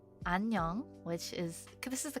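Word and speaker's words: 안녕: this is the word for hello hi it's pronounced anong which is this is the kind of casual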